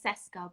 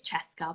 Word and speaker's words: Cesca: after myself yeah but it people do say cesco but yeah it's it's chess car but it's jessica you won't tell anyone off